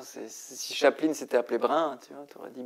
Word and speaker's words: Brin: brun mais mon avis la prononciation peut-être c'est brin BR David brin ouais mais